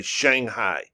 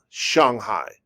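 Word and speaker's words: 上海: lot of people say shanghai all right oh that's an english pronunciation that's not the true pronunciation of it shanghai shanghai shanghai okay show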